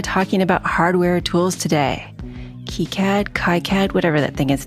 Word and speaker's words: KiCad: cat and why key cat always it's always kead and if you the pneumonic that I keep